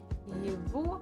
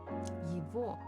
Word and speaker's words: его: Это его чашка. Его. So we write g, but we actually pronounce as v.